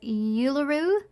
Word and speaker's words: Uluru: So I hope I pronounced this right. It's Uluru, Australia, correct?